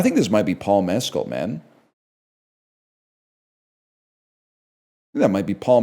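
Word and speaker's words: Mescal: I think this might be Paul Mecoll, man. That might be Paul Mecoll as well. That's definitely Paul Mezcll. Say it like the tequila, bro.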